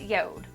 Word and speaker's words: Jord: it's so cool now it's spelled like Jord but it's actually pronounced yod now that's just the